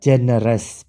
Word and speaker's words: generous: Yang kedua, pasangan yang kedua, generous, pemurah, generous. Pemurah, G-nya dibaca J.